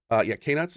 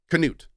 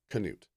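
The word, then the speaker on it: Knut: doing the last few months, or I am K-Nuts? Is it K-Nuts? Or I'm hanging with my family. So how do I properly pronounce his name? Is it Newt? I want to say it properly. Canute.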